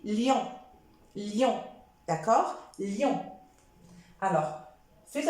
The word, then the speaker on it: lion: ion comme lion lion surtout n'insistez pas trop appuyez pas trop sur le i n'hésite pas lion non c'est faux parce qu'il y a des personnes qui prononcent mal et qui disent liant non j'essaie d'appuyer un petit peu légèrement sur le I et je dis lion lion d'accord lion alors